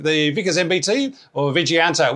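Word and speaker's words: Vijayanta: Uh the name the Vicas MBT or Viganta, which I looked up and is pronounced Viganta and but I'm sure I'll still get it wrong.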